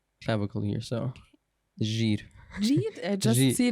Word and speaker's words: Jear: Because my actual name is Jear. But it's not. Why are you not saying this? Because no one can pronounce it. So in Germany, there's no je.